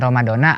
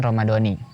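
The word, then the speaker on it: رمضانِ: ramadhan atau Romadhoni penyebutan dengan Romadona adalah keliru jika membaca dengan Romadona atau dengan harakat fathah maka kalimat selanjutnya adalah Hadits Sanata sebagai keterangan waktu bukan Haji sanati sementara yang biasa digunakan adalah dengan membacanya melalui bacaan Romadhoni atau dengan harokat kasrah maka setelah Romadhoni dibaca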